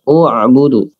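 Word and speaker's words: اعْبُدُوا: Jadi u'budu, hamzahnya jadi berharokat dhammah.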